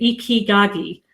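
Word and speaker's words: Ikigai: And thank you to Andrea, by the way, who has clearly phonetically spelt out how to spell say Ikigagi. That's how you say it, Ikigagi.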